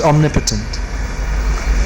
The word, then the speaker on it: omnipotent: omniscient omnipresent and omnipotent omnipotent is pronounced omnipotent all powerful yeah so we